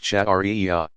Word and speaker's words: Sharia: The outcome of all this study and interpretation is called Sharia, pronounced Shari'iyah.